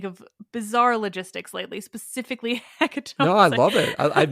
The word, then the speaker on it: hecatomb: Also, I think I realized recently it's pronounced hecatomb, which makes sense because it's tomb, but it just feels wrong.